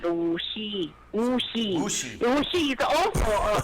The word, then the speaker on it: Wuxi: It's WUXI. How would you pronounce that? WSI? XI. Yeah, like a W means Wu, like Wuhan. Wu, S-I is Xi, is like Wuxi.